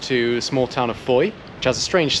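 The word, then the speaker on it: Fowey: a small town of foye which has a strange spelling i'll pop it on the screen but it does not sound how it's spelled so we're just going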